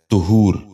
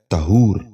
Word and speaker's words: طہور: غور سے سنیے، تیارہ۔ نواں لفظ ہے طہور۔ یہ غلط تلفظ ہے۔ درست تلفظ ہے طہور۔ دوبارہ سنیے، طہور۔ بچوں